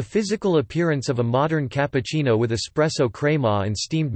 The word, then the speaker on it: cappuccino: A cappuccino, listen, Italian pronunciation, cappuccino, Italian plural cappuccini, is an espresso-based coffee drink